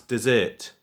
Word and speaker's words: dessert: So I would say desert for that one. And then this one I'd pronounce dessert. So there's a slight difference.